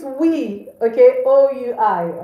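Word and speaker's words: oui: Okay, so it's we, okay, O-U-I, all right, just wrote that for you, okay?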